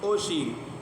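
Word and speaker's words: ocean: بڑا شین، سی کو او شین، او شین، ٹھیک ہے، او شین۔ تو او شین، اب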